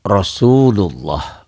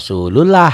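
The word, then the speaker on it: رسول الله: Surya jadi Mad Thobi'i jadi panjang Rosulullah Jangan dibaca rasullullah ya Ah ini karena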